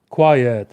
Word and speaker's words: quiet: Uh this word has two syllables.